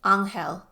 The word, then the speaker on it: Anel: Oko pronounced the man's name in the Spanish way. Anel "Sounds like a handy guy to have around," Scotty remarked.